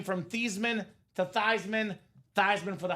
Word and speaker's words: Theismann: It's actually pronounced Theismann, Robbie. So the proper pronunciation, the German name is Theismann.